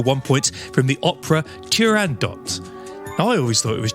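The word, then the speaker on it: Turandot: always thought it was tando but in fact it's tand do because it's an Arabic word used in Italian and in fact only in French you wouldn't pronounce the T there we go on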